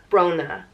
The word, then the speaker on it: Brona: and so that's where Brona comes from it comes from sorrow and Brona is pronounced bro na Brona and Brona is another